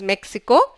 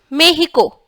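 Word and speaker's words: México: Okay, the sound is like h, somewhere between k and h. So for example, if I pronounce this word, which is Mexico, it will be pronounced as Mexico.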